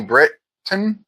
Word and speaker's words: Britton: Kyle Allen is also in it uh Connie Britton Connie Britain I thought it was Connie Brit for some reason but it's Britain let's see oan is silent uh let's see anybody else I recognize